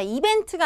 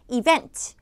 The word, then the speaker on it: event: 단어일 확률이 좀 높아지는데 자 이벤트가 아니라 분들 이음절 강세입니다 이것도요 이벤트 하셔야지 그 레이터를 입장에서는 이벤트라고 이제 여러분들이 발음 하셨다라고 접수를 하게 돼요 event 해보자 행사할 때 event